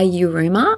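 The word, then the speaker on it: Yiruma: Flows In You by you rumor I think that's how you pronounce it it's y-i-r-u-m-a for hours on repeat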